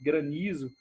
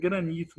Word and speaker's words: granizo: tá do processo de granizo aí que não é grande rica tá chovendo em Granito não é granito é granizo é o jeito certo de falar mas tem isso com